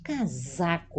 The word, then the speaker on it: casaco: o o casaco novamente casaco aqui pronunciado entre duas vogais a s é com a z do inglês né ó casaco a pronúncia da Z Espero que o menino